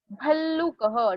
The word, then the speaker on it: भल्लुकः: भल्लुकः, double ल तो ल के ऊपर स्ट्रेस.